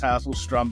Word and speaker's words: Hasselstrom: Yeah, the last name is Hasselstrom, but call me.